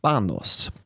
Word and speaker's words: Panos: His first name is Panos. I think I'm saying that right, which is spelled with a P like piano or Peter, but it's kind of a soft P sound, kind of like halfway between a B and a P.